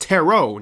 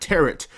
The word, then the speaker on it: Tarot: so I recently found out that it is pronounced terot not teret so my entire life I've been calling it